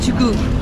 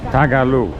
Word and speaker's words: Tagalog: And they speak Tugu. Did I pronounce that? Did I pronounce that correctly? Speak Tugu. Tagalog.